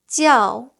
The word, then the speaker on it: 叫: So J pronounces as ji, which you need to stick your tip of your tongue, touch the back of your bottom teeth, and then you have to keep your tongue flat. Ji.